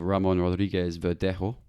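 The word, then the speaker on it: Ramón Rodríguez Verdejo: everyone know him very well um you have ramon rodriguez verdejo that's how you pronounce it at sevilla who's a former goalkeeper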